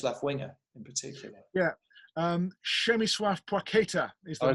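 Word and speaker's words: Przemysław Płacheta: Przemysław Płakieta is the name. I was going to say, I'll let you pronounce it. Przemysław Pacheta.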